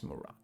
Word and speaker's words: Murad: Lucas Murad. That's how it's pronounced.